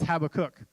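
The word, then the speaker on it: Habakkuk: and when I mean how to cook it's Habbakuk okay so we're gonna spend time in the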